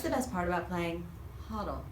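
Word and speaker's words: Hodel: What's the best part about playing Huddle? Did I say it correctly? Yes, you nailed it. Huddle. Muddle and Huddle.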